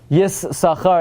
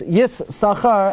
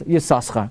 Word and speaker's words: Yissachar: That mistakenly led to pronounce Yissachar as Yissaschar.